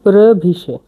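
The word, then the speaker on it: previše: প্রভিশে।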